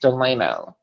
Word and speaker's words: Delano: name is doing though delano like franklin delano roosevelt but it's pronounced delano delano okay so they fell